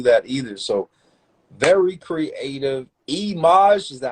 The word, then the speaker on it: Eimaj: Eimaj, is that how you say it? Yes. Eimaj, yo, very creative, very creative.